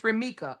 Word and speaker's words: Romeca: It's Romeca.